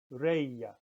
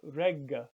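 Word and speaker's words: Regge: That R-E-G-G, in this case is two G's, but they're both between, well, the combination GG is between vowels. Reya. And that means rain, reya. So not regga, but reya.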